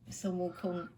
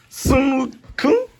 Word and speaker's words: Sun Wukong: Sun Wukong. Sun Wukong.